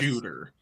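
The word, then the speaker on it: Tsjuder: it's spelled tsj u d r but it's pronounced shooter TS J okay what else after that tsj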